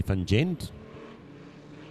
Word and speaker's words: van Gent: We've got 114 there, which is Charlie van Gent. Van Gent, if you want to get it right.